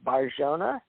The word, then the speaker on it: Bar-Jonah: And Jesus answered and said unto him, "Blessed art thou, Simon Bar-Jonah." Forgive me if I don't say that right. J could be pronounced H, I don't know, but it's Barjona.